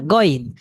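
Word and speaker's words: غين: গ এরপর রসইন হ্যা গন এটার উচ্চারণ হল গন হ্যা এখানে গাইন বললে কিন্তু ভুল হবে সুতরাং এটা বলতে হবে গন আচ্ছা তো একটু অনুশীলন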